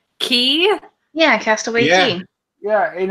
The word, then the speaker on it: Cay: private island right already freaking know that you pronounce K key yeah castaway see ya in America you say